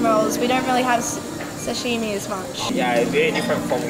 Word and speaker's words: sashimi: have that much s Sashimi is that how you say it yeah yeah Sashimi is just a size of fish